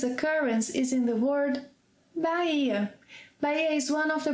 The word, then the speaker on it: Bahia: Another curious occurrence is in the word Bahia. Bahia is one of the Brazilian states. So see, we have the letter H in Bahia, but the letter H is silent.